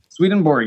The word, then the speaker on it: Swedenborg: angle you're not no I'm saying it right swedenborg in good job alright Peter finds his favorite